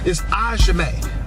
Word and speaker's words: Ajame: I found out the pronunciation of his last name is Ajame. Okay, Raheem Ajame. I butchered it before. Sorry about that, Raheem.